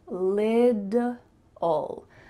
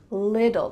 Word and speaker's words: little: this word but really in American English those T's are gonna become D sounds so it's gonna sound like lid ol little like a lid that you put on a container little and then we have